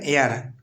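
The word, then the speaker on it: heir: হবে B number option N হি ইজ এন এয়ার টু his fathers property সে হয় তার পিতার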